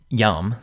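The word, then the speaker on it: iam: Yam looks like it should have two syllables, but that I is actually a consonant, so it begins the word and is followed by a vowel. So yam, too, just has one syllable.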